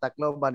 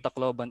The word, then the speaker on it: Tacloban: something like that and another peculiar thing about tacloban is that the the we accent in the third syllable abukai sakkahan i saw